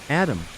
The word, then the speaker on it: ADM: he explained to me ADM and RAM pronounced Adam and RAM considering your placement in